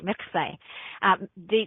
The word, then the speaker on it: mikveh: I try to say it correctly, mikveh.